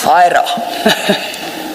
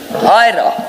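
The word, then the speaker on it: Huayra: Hyra. Sorry, ma'am? Hyra. Oh, okay. I dare not pronounce it back.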